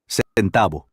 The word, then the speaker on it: centavo: Centavo. Centavo. Remember the V, or what we identify as the V in Spanish, actually makes kind of a B sound.